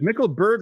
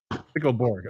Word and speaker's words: Mickelborg: Is it Mickelberg or Mickelborg? How do you pronounce it? I want to get it correct here. It's Mickelborg. Mickelborg. Okay, so it's like just like how it's spelled.